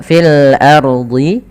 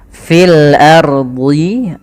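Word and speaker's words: في الأرض: Kemudian pada lafal fil ardi ya. Kemudian pada lafal fil ardi, ro-nya di sini ro tebal, fil ardi. Kemudian jangan sampai kita membaca dengan fil ardi, ro-nya tipis. Padahal ro-nya tebal.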